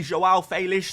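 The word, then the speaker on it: João Félix: is going to be Joelle felish so yes uh first of all yes that is how you say his name don't blame me blame the Portuguese but despite the good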